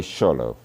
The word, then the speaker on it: Xolo: Anyone wants to give a go at pronouncing that? I'll take that as a no. Shaloy quintiquint mostly called a sholo for obvious reasons.